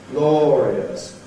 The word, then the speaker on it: glorious: Each of these is 3 syllables, victorious, glorious, over us, and they have the appropriate number of beats, of notes in the music. Send her victorious, happy and glorious. Okay, so clearly here we're treating aureus as 3 syllables.